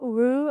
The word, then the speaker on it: Roure: Today, we have Ru on the podcast.